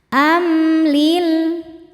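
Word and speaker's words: أم: Am ada hukum izhar syafawi karena mim sukun tidak menghadapi mim atau ba melainkan menghadapi lam. Cara bacanya mim dibaca jelas. Amlil.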